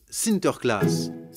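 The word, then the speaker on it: Sinterklaas: aux enfants aux pays bas sans nicolas se prononcent sinter klaas et lorsque les néerlandais traverse l'atlantique au xviie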